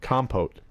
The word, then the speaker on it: compote: How do you pronounce that? Compote? Compote.